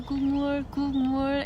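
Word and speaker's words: 국물: Gulmur is how you say it.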